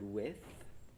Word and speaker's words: width: pronunciation point the word width to to really pronounce the th sound at the end part two I will